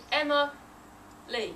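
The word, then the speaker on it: Emma-Lee: it with a hyphen you don't say Emma hyphen me you say Emma Lee leave a pause Emma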